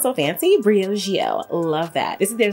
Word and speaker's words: Briogeo: it's so funny i didn't know how to pronounce it at first it says it just sounds so fancy briogeo love that this is their scalp revival charcoal